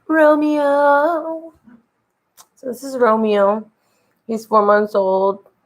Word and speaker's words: Romeo: you to Romeo, who, does anybody know the Billy Ray Cyrus, Dolly Parton song, Romeo? Anybody? Because that's how I say his name. When I call him, I say, Romeo.